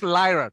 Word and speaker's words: Lyra: there are few reason because I know it's a liar. A liar. Lyra. That's why that's my pronunciation, because I will make it a liar.